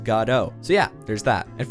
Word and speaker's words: Godot: I actually learned from my last video from a super awesome comment that I've been mispronouncing Godot. According to the official Godot page, it's pronounced Godot.